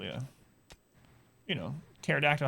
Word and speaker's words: pterodactyl: but p is in pterodactyl yeah you know pterodactyl has a silent p in the beginning for some stupid reason